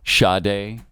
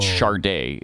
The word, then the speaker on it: Sade: Sade. Oh, I like that. Mm-hmm. Yeah. Okay. A lot of people put an R in there where it doesn't belong. It's not Sade.